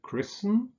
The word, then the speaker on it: christen: Similarly with words like christen and listen, where you don't pronounce the T. There's no T here, but in Christian, christlich, there is. So christen, taufen, no T, Christian pronounced with a T.